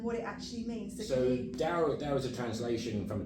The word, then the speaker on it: Tao: Most people say Tao, but it is the Chinese way of pronouncing it is Dao.